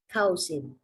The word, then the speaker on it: cousin: Bacanya ka. Cousin. Bunyinya bukan cow. Ka. Ka. Zen. Oh iya. Cousin. Bacanya ini. Yes, jadi OU bunyinya A. Bukan cousin atau cousin. Nah, yang bawah Chaisim.